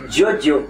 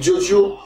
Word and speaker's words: Giorgio: Giorgio, oui. C'est en italien.